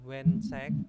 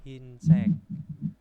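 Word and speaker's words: 흰색: haran seperti ini bukan wensek tapi hinsek terus tioseki tioseki itu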